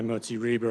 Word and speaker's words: Moti Reber: Our next uh our next confery is Rabbi Modi Reber. I'm sorry if I've uh butchered your name, sir. First shot. Good. even did the German pronunciation of the RI.